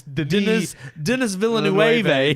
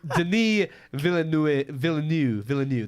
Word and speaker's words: Villeneuve: It's Denis Villeneuve, but it's actually Denis Villeneuve. That's it. We butchered his name for a long time.